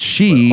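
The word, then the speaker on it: 死: So she means death, but she also 4 means 4, and in the pronunciation you can tell.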